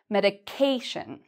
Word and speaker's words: medication: one is medicinal and the third part we say this part louder medication a lot of people